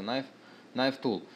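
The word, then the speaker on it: Knife Tool: носит название на нож пишется к kn читается на N Tool инструмент нож его отличие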